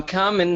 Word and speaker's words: combing: So is the B always canceled? No. For example, we don't say number, we say number. But there are many words where the B is canceled.